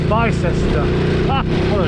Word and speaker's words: Bicester: On the outskirts of Buckingham, heading for Bicester, or as it's pronounced, Bicester.